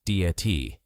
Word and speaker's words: debt: Debt. Again, the B is silent. Many learners say debt, but the correct pronunciation is just dat.